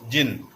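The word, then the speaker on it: djinn: It is pronounced as jinn, a spirit that has strange powers and can assume any form whether it is human or animal.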